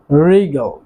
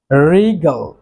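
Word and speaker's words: wriggle: তারপর রয়েছে রিগল, রিগল ছলনা করা।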